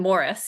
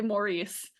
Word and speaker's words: Maurice: the last hero and Morris yeah well done you pronounced it correctly thank you my my inclination is to say Maurice so have to think about it every time you know what tripped